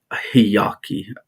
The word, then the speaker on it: Hiaki: I think they they the way they say their name or identify themselves is Hiyaki. I think that's how they say it. Hiyaki. Hiaki. Hiyaki. There's a H. Instead of the Y, they use a H. Hiyaki.